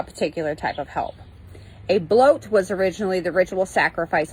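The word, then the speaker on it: blót: in heathenry are called blot but it is pronounced bloat and symbol which is pronounced sumble Heathen groups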